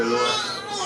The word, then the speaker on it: Eloah: How you say you pronounce that word again, bro? Eloah.